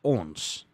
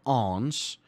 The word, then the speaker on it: ons: Because it's pronounced ons, not ons, ons.